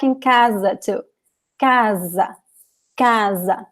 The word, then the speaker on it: casa: Just like in casa too. Casa, casa. So the S between 2 vowels in Portuguese always sounds like Z.